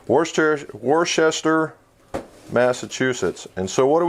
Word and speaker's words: Worcester: I knew I was always going to say it wrong, just like Worcestershire sauce, right? Worcester, Massachusetts.